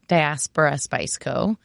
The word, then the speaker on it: Diaspora Spice Co.: So, I say Diaspora Spice Co.